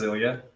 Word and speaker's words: Ilya: it it's all good hi my name is Ilya okay yes it's a just a common common